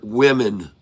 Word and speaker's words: women: two words is that the first syllable of each word is spelled the same but pronounced differently. And the second syllable of each word is spelled differently but pronounced the same.